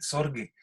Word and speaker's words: Sorge: A ver, un segundo, porque no sé a qué te refieres con debe ser, la pronunciación es con G, Sorge, ¿no?